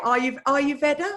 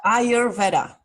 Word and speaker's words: Ayurveda: How do you say it? Aryuveda? Ayurveda. Ayurveda.